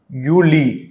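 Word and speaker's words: Juli: June, ஜூலை ரொம்ப easy, யூலி. ஏன்னா ஜே வந்தாலே நம்ம ஈன்னு ப்ரொனவுன்ஸ் பண்ணணும், யூலி.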